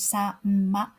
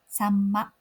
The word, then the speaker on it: さんま: So instead of pronouncing this word as sa-ma, try pronouncing like samma.